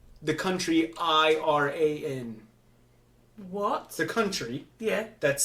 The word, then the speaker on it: Iran: It's an I. It's not an E. Iran. Iran spelled E-E-R-A-N.